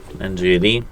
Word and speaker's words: NGenuity: It's pronounced NGenuity and spelled NGenuity.